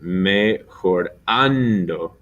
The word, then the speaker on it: mejorando: Mejorando. The accent on the an.